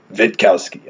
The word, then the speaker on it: Witkowski: My last name is Witkowski, and I had a priest tell me, no, your last name is pronounced Witkowski.